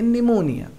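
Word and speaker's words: pneumonia: start हो रहा है बट यहां पर एन से पहले पी आए तो वे साइलेंट रहता है इसलिए हम इसका पेन क्या करेंगे निमोनिया दूसरा एग्जांपल साइकोलॉजी मनोविज्ञान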